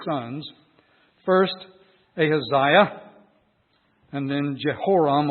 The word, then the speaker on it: Jehoram: First, Ahaziah, and then Jehoram, or Joram as it's sometimes pronounced.